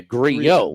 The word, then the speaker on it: Grillo: Another double L that's pronounced differently, according to the PGA Tour pronunciation guide. Emiliano is 2 L's? That's 1. Right, but okay. Grillo is 2. Back to back. Yeah, Grillo, right. Yes. The double L's are a Y, yes.